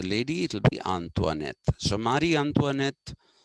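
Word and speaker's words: Marie Antoinette: and the wife of King Louie the 16th Mari antoanet is written m a r i e Mari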